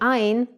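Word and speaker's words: עין: Originally, Ain was pronounced glottally, from the throat, but in modern Hebrew it is rare to find speakers who are still pronouncing it in that way.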